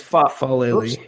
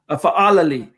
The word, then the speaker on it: Fa'alili: And by the way, real quick, we're getting a couple of pronunciation suggestions here. It's Foilali, and then BNS says Fa'alili. Go ahead, John. Sorry. Go ahead, buddy. All right, I got it. Fa'alili.